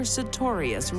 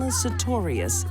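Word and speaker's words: Sutorius: never marry a woman whose last name rhymes with notorious I have to get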